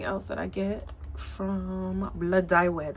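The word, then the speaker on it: Blodeuwedd: Anything else that I get from Blood Dye Wed. That's how you pronounce that. It's Welsh, and child, Welsh is, you might be British.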